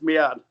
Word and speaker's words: Meehan: He says Meehan. Yeah, okay, gotcha. But he also says that's not how his father pronounces it.